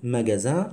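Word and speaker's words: magasin: لا تلاحظ حاجة، محل ماجازان لو اس اونتر دو فوايل سي برونونس زد، بتنطق زد.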